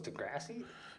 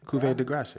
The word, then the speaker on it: Cuvée de Grace: So Is Degrassi? Cuvée de Grace. Yeah. Cuvée, it's spelled Cuvée de Grace.